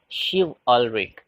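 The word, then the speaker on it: chivalric: a l r i c is to be pronounced as shiv already okay just look at the first line aunt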